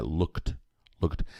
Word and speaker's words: looked: to look looking looked essa letra e não é pronunciada não é look é looked já vou dar uma